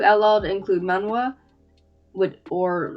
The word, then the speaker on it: manhwa: Even I can't pronounce that. Hello? No, it's manhwa.